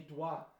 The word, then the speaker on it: doigts: Les doigts. Doigt. That's it. There's a silent G in there for everyone.